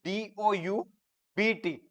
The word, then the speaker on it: doubt: But actually, when we write it, it is DOUBT. B is silent.